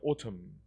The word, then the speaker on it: autumn: 애는 묵음이에요. autumn.